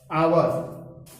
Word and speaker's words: hour: यहां पर आपने देखा कि HOUR, जनरली लोग इसको पढ़ लेते हैं हावर, हावर। गलत उच्चारण के साथ आर्टिकल का प्रयोग करने में दिक्कत हो जाती है। यहां पर इसको पढ़ा जाता है आवर, यहां पर इसको हम आवर पढ़ते हैं।